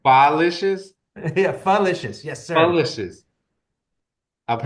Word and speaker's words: Pholicious: it with uh, fa, so you're like fa, but then just take out the grunt, and so fa. pho. There you go. There you Oh, go. Pholicious? Yeah, falicious. Yes, sir. Pholicious.